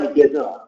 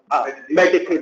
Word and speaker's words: meditator: How should I pronounce this word? Meditator. Yeah, just how you pronounce lim or mediator, right? It's not right, mediator. Meditator is right.